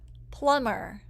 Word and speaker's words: plumber: The letters MB can also make the sound. It makes the B silent. The reason we have the silent B after M sometimes is that people used to pronounce this B when they were talking. We don't say it anymore, but we still spell it that way.